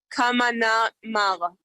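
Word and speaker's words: Kahramanmaraş: It's Kamana Mals.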